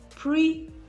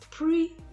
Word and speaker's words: pretty: And then you stress the first syllable of most two-syllable adjectives. For instance, pretty, pretty. As you can see, I'm representing the stressed syllable in capital letters, so it will be easy for you to understand what I'm talking about. Pretty, pretty. Flea pants, flea pants.